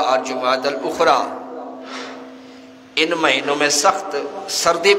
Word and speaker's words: جمادی الاخری: رواج ہے اس کو، پہلے تو یہ ہے کہ اس میں تلفظ ہی لوگوں کا درست نہیں ہوتا، جمادی الاول جمادی الثانی کہتے ہیں، حالانکہ صحیح تلفظ ہے جمادی الاولی، جمادی الاخری یا جمادی الاخرہ۔ تو یہ ثانی اس